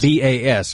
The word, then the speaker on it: Bas: Well, why are you pronouncing it Boz, though? Right. Probably like Baz or something. Exactly. Bass. B-A-S, right? Bas Rutten. Bas would connote a Z, right? Right. Yeah, it's like a Scandinavian Z.